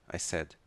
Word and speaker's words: said: não é sei muitos muitos aprendem a pronúncia S não tem essa pronúncia sad rápido sad triste em inglês a palavra triste em inglês é escrita com s a d e a pronúncia é mais prolongada sad e aqui é dizer no passado eu disse said eu estou triste continuando